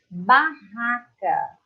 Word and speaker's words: barraca: Os 2 R's têm um som mais prolongado.